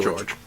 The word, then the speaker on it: Jorge: Yeah, it's Aaron and Jorge, or George, depending on if you pronounce it like our friend Neil, whose last name is spelled Jorge, and he pronounces it George.